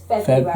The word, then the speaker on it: February: Don't pronounce the first R. It's February.